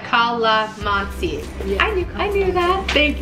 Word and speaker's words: Calamansi: Now, as far as the Calamansi drink goes, pronounced like Calamansi.